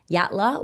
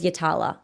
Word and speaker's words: Yatala: I actually used to say Yatala was Yattala.